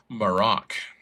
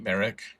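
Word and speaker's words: Marrok: They pronounce it Marok in the show, for what it's worth. I've been pronouncing it Merrick forever, but in the show That's they how call it I've been doing Marok.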